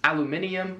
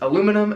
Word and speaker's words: aluminium: Next up is aluminium, which is aluminum as we would say it.